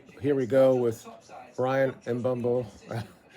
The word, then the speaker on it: Mbeumo: We who have the Here we go with Brian Embo. I can't say his name. People give me because I can't say it. It's Mumbo.